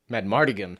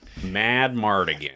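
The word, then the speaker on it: Madmartigan: It's 1. Mad Mardigan. In Yeah, my Mad notes, Mardigan. I literally just called him Val. 4 syllables.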